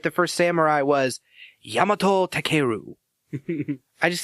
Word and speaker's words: Yamato Takeru: the first samurai was yamato takeru I just sound like I'm making fun of it I think the stress would be on the second part so it'd be yamato